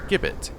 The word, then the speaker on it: gibbet: It began with a hard sound, not a soft one, obviously, and he had the temerity to disagree, and disagree vociferously, no less.